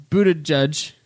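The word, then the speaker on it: Buttigieg: here knows who Pete is I don't know booted judge that's how you I thought he was never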